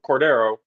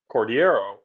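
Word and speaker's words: Cordeiro: at it and go Cordero or if you pronounce it how it's spelled cordiero but when I finally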